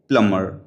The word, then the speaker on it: plumber: अब इसमें भी बी साइलेंट रहेगा। प्लम्बर नहीं बोलेंगे, प्लम्बर।